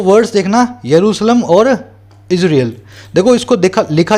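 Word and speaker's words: Jerusalem: दूसरा जेरूसलम, लिखा जाता है जेरूसलम लेकिन जे साइलेंट होता है, इसका करेक्ट नेम है यरूशलेम, ठीक है ना। तो इसलिए आपको जे को साइलेंट करके बोलना है यरूशलेम।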